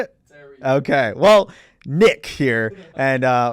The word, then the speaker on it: Theriot: Theriot.